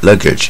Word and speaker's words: luggage: 像这个行李啊，luggage 啊，也是一样啊，